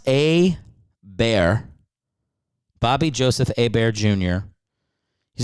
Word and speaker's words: Hebert: First off, it's pronounced A-Bear.